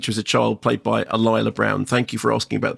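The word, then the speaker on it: Alyla Browne: first meet her as a child played by alila Brown thank you for asking about the pronunciation because I too would have uh you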